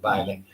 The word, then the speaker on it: Baile: I've got to get in contact with Baile. But anyway, they're out of Maryland. Baile's African Drum Shop. You can look it up online. Baile is spelled like the dance, B-A-I-L-E, Baile.